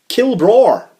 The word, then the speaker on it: Kilbraur: rebuttal, we had a Kilbraur. That's his name, Kilbraur. Kilbraur, that sounds quite aggressive. I like it. Well, it's not Kill with two L's, that's just a name. It's Kilbraur. Kilbraur.